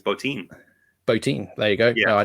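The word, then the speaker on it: Bottin: Is it Bob Botin or Bob Botin? I think it's Botin.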